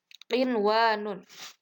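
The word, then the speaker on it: قنوان: Kemudian yang keempat qinwanun.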